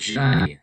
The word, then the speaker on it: j'aille: That's that Y sound, j'aille, those two L's.